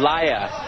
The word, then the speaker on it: Lia: And Lia is how you say her name properly.